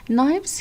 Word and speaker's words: knives: at the word knives knives here like starts with k n but if you have k n all right you don't pronounce k k is silent so it's will be